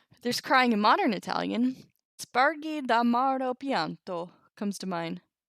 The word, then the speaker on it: spargi: I guess it should be Spargi. Because a GI makes it a soft G and not a hard G.